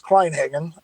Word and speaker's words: Kleinhagen: got into rc well the last name is kleinhagen uh uh and um let's see i got